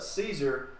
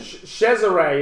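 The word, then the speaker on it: Cesare: his complaint was that Caesar who owns local business guy he owns five or six businesses chesare is the correct pronunciation Chesire marmarella mamarella he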